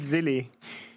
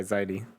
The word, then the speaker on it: Zilly: Is it Zilly? It's more like Sai. Ziley? Okay, Ziley.